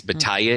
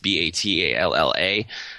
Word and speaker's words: Battaglia: Battaglia is how it's pronounced, Batalla.